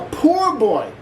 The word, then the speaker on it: po-boy: like today's recipe a poor boy sandwich I know what you're saying Chef is pronounced po boy well I got news for you not originally originally it was called a poor boy these Martin Brothers from